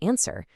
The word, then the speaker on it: answer: The H totally disappears in honest and hour, and the W is silent in both sword and answer.